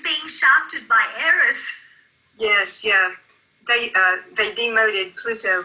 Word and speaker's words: Eris: E-R-I-S, but the A is like an E-H.